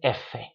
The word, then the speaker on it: efe: it is che, or sometimes, like with F, it's not fe, it's efe.